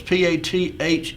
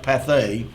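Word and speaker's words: Pathé: first on path that's p a t h e or maybe it's pronounced path looks like there's an accent on the E so we'll say path phonograph records well that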